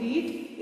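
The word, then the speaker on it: read: जज आरडी एडी री the spelling is same but we pronounce it एज रेड इन the past tense so you need to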